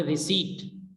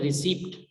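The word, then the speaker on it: receipt: मिसाल के तौर पे रिसीट, लोग इसको पढ़ते हैं मिस प्रोनाउंस करते हैं रिसीप्ट, इसमें पी साइलेंट है, तो हम इसको पढ़ेंगे रिसीट।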